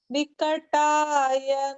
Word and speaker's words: Vikataya: Om Vikataya Namaha. Om Vikataya Namaha. Good. And here notice that the ta sound is the retroflex ta, Vikartaya.